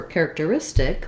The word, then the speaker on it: characteristic: when i have character the difference then for characteristic or characteristics is that i do have some stress on that care syllable so it still has the same care sound but it's not the primary stress any longer the stress changes from